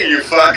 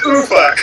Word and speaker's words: Ufuk: It's nice to meet you, you fuck. And he's like, no, it's ooh fuck. Like, okay. Oh, sorry. Emphasis on the wrong syllable.